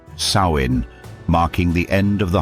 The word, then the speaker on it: Samhain: The ancient Celts celebrated a festival called Samhain, pronounced Samhain, marking the end of the harvest and the beginning of winter, the season of death.